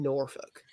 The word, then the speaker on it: Norfolk: is it's you know ing that you don't pronounce the Ellen Norfolk it's um because that will make you know